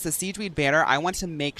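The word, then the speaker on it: Sigewinne: way we'd be able that's how I'm saying it Siege because that's how they say it in the game but it's it's spelled almost like sigin s i g e w i n n e she's the little she's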